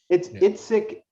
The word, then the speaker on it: Yazbek: There's a song, and I love the difference, the conversation between, I assume, Yazbek, I hope I pronounce that right.